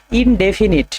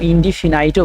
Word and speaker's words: indefinite: এক নাম্বার হচ্ছে উচ্চারণগুলো ঠিকঠাকভাবে করবে। ইনডেফিনিট। ঠিক আছে? ইনডেফিনিট। এটাকে ইনডিফিনাইটও বলে অনেকে।